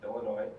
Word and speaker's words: Illinois: I'm a senior from Crystal Lake, Illinois, and for all you Minnesotans, yes, the S is silent.